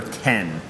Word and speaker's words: X: be Tournament of Terror 10 like Mac OS 10 it looks like an X pronounced 10 yeah you know like